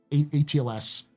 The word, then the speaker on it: ATLS: It's coming out, the um the ATLS um is what it's supposed to be pronounced as, by the way, uh which is the combat mech based off the Atlas chassis.